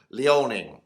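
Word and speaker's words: Liaoning: province of lynn lioning i've forgotten how to pronounce it how to say it correctly leoning that's how you say it and let's have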